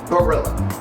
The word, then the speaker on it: Barilla: I prefer pasta barilla. Barilla. That's how they say it in the commercial.